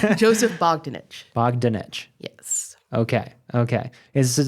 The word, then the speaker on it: Joseph Bogdanich: Joseph Bogdanich.